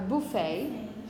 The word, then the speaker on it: buffet: don't announce the T you're always going to pronounce the English version is going to be the ballet the ballet yeah a buffet okay it's not the same word we use